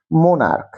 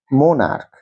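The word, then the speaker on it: monarch: দেখো, সিঙ্গুলারের ঘরে মোনার্ক, উচ্চারণটা করো আমার সঙ্গে, মোনার্ক। উচ্চারণটা কি? মোনার্ক। এর সঙ্গে দেখো সিএইচ থাকা সত্ত্বেও কয়ের মতো উচ্চারণ হচ্ছে, তার জন্য এটা হবে মোনার্কস।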